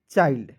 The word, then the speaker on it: child: बीच में आई आएगा, लेकिन उसके तुरंत बाद एल आएगा, तो उसका उच्चारण हो जाएगा दोस्तों आइल्ड के रूप में। देखिए, CH का च लिख दीजिएगा और यहाँ पे देखिए ILD का उच्चारण आइल्ड के रूप में करेंगे, तो क्या हो जाएगा? चाइल्ड।